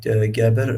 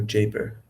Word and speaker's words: Gaber: your name um you can pronounce it Gabber or Jabber Jabber Jabber yeah do you have a social media or something.